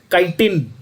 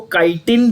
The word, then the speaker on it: chitin: I wouldn't say they are idiots, but there is a different pronunciation. आप इसको, बहुत सारे लोग इसको काइटिन भी कहते हैं, कुछ लोग चिटिन भी कहते हैं। आप दोनों कह सकते हो, कोई फर्क नहीं पड़ता।